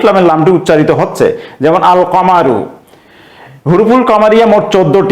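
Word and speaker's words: القمر: আলিফ লাম যুক্ত থাকে তাহলে সেই আলিফ লামের লামটি উচ্চারণ হবে যেমন এখানে আল কামারু এই শব্দটির শুরুতে কাফ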